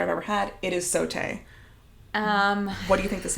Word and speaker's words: sauté: It is sauté.